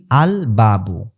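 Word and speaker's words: الباب: আচ্ছা, এরপরে দেখেন আল বাবু, এইখানে কিন্তু আল আল লাম উচ্চারিত হয়েছে, কারণ কি বা হলো হরফে কমারিয়া, বা হলো কি হরফে কমারিয়া।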